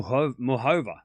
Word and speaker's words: Muchova: All the commenters are pronouncing it mu muhova. Yeah, but I'm saying mukova because I I'm Australian and don't make fun of my accent.